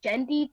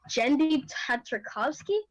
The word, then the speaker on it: Genndy Tartakovsky: no it wouldn't be because it's made by Dendy I'm sorry I find it say his name wrong genndy tartakovsky and he actually brought back samurai jack and